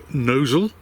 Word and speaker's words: Gnosall: So it's a nice cruise today from Gnosall, or as it's spelled, Gnosall, down to Wheaton Ashton.